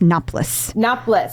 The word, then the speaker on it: Noplos: Is it Noplos or Noplos? Just Noplos. Noplos. Like double syllable.